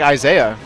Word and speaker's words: Isai: Well, what about like Isaiah? And that's not how you pronounce it's Isai. It's Isai. Yeah. Everyone says Isaiah.